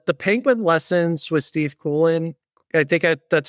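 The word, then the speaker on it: Coogan: on um uh the Penguin Lessons with Steve Coolen I think that's how you pronounce his name. He's like the comedian who does Alan Parkridge. Steve Kougan Kugan Kugan.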